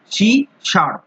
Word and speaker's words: C#: এই যে শি হ্যাজ, এই হ্যাজ এর যে প্রোনাউন্সিয়েশন সেটার নাম হচ্ছে শার্প, শি শার্প, যেটা তোমরা স্ক্রিনে দেখতেই পাচ্ছ।